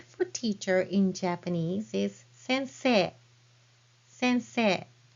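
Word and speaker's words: 先生: So teacher is sensei, and you pronounce it as sensei.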